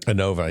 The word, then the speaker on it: Anova: Anova, yeah.